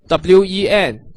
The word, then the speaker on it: 问: So if you have a look at the pinyin, it is wen, w pronounced w, and en pronounced n, wen, with the fourth tone going from up to down, it is 问 within the shorter version, 问 Have you mastered that?